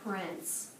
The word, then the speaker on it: prince: And then the silent E. Very good. Prince.